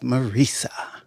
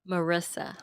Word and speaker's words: Marissa: I pronounced that wrong, didn't I? I don't want to pronounce it wrong too many times. Jill, what is it? Marissa. Marissa. That's what I said. No, it's not. And I don't know where Stacy went.